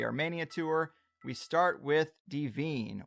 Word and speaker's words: Dvin: We start with Dvin, or Dween, as some people pronounce it, and its unexcavated buried pyramid.